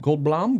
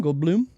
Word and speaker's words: Goldblum: Is it Gold Gold Blum? Gold Blum. The man. Has anybody seen that? He's like, "How do you pronounce my name?"